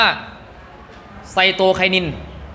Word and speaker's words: ไซโตไคนิน: ดี ๆ นะ ครับ อัน นี้ อ่าน ว่า ไซโตไคนิน ตาม นี้ เลย ครับ